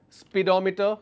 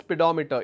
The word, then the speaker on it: speedometer: for example prodigy meter speedometer one is missing here it's pronounced s pedometer it's not speedometer now you will understand why it's not speedometer its pedometer Gy I'm going to